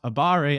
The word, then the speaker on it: abare: at negative frame Advantage it is pronounced Abare at least by English speakers normally attacking your opponent